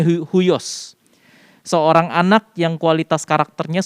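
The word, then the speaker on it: υἱός: Spellingnya bacanya huios.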